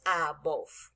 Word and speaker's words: above: No olvidemos que en inglés cuando una palabra termina en E, la E no suena y la V tiene una fonética de labio dental, de labios y diente, como la F.